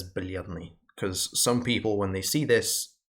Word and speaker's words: бледный: So if we take this word here as an example, бледный, it means pale. When you have the soft L there, there's no E sound after it. So it just says бледный.